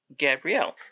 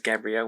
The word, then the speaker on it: Gabriel: why i started why i decided to pronounce his last name is gabrielle when it's obviously it would probably be most likely pronounced gabriel but i think i pronounced it like wrong a couple of times i don't really quite remember exactly what it was in looking stuff up where i for some reason decided it would be pronounced gabrielle but i'm pretty certain it's gabriel so please just forgive